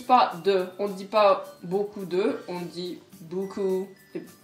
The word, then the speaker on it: beaucoup: donc beaucoup, que vous prononcez Beaucoup. beaucoup. Beaucoup.